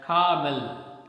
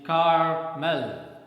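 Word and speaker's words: caramel: m e l okay generally people are habituated of speaking this word as carmel but the correct pronunciation is carmel right next one is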